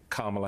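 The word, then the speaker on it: Kamala: her hand out and said KLA Harris first off I'm saying my name so you get it right when you say it which he never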